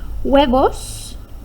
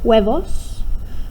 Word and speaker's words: huevos: Huevos, remember that H is silent. Huevos, or fruta.